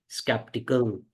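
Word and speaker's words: skeptical: आप इसको ऐसे प्रोनाउंस बोलो, बोलो स कैप टी कल। स कैप टी कल, तो बन गया स्केप्टिकल। शक करने वाला, शक्की व्यक्ति, ये शक करता है हम पे।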